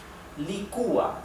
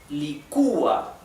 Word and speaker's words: licúa: Licúa. So again, we have an hiatus here, okay? An hiatus. Here it's separated into 2 different syllables. And licúa. The accent, the intonation is on the U.